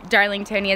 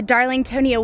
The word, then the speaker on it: Darlingtonia: I guess it's Darlingtonia is how you say it, which means pitcher plants, California pitcher plants, which are carnivorous plants.